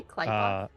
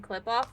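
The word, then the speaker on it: Qlippoth: Did you just say Kleoth? That's apparently. That is apparently the correct pronunciation. We should go back to the better pronunciation. Um I just wanted to verify because we've been saying clip off forever.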